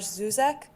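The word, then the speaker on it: Žižek: There's a term from historians whose name I'm going to mispronounce. It's Slavoj Zizek.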